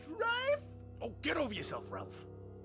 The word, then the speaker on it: Ralph: It's pronounced Rafe.